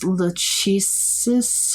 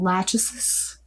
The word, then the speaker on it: Lachesis: With a Tan Skin is Lachesis. I'm pronouncing that wrong. Lachesis.